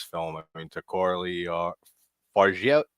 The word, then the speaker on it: Fargeat: I mean, to Coralie Fargeat. How do you say your last Fa- name again? yeah, Farja.